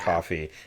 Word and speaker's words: Ko-fi: get, like, a Ko-fi coffee. Like, it looks like Ko-fi. Yeah. The way it's spelled, I'm like, it's Ko-fi, but it's coffee, but it's whatever.